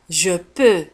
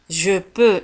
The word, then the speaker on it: je peux: Je peux. Je peux. انتبهوا كيف تكتب je peux في آخر الكلمة بX ولا تنطق.